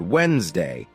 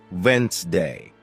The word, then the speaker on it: Wednesday: For example, you might see the word Wednesday, and think it's pronounced exactly as it's spelled, but listening teaches you it's actually pronounced Wednesday.